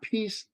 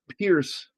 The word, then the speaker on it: Pierce: So it's not Peace like Guy Pierce. Oh, Pierce. But Pierce like Pierce Brosnan.